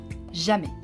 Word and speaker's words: jamais: Jamais. Here again, the S is silent.